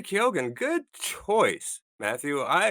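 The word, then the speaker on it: Keoghan: I chose Barry Kogan or Kyogan. How do you say his name? Uh Barry Kyogan.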